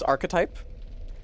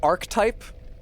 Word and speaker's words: archetype: know it like archetype archetype is a real word it's three syllables it's archetype it's not Arch type it's not Arch type it's archetype it's a word uh